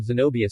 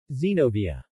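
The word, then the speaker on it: Xenovia: her new friend um Zenobia San xenobia she corrected oh she bowed her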